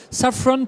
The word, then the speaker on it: Safran: ça ouvre sa frange décide le prononcé en anglais saffron power and team manager